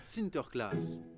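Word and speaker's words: Sinterklaas: parce que c'est Saint-Nicolas Saint-Nicolas se prononce sinter class ok ahlandais l'Atlantique au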